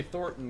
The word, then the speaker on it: Thornton: And the other ones say Thorton, because that's actually how you pronounce it.